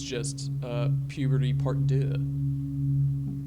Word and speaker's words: deux: It's just puberty part deux. I always thought it was ducks. Ducks? With you pronounce the X.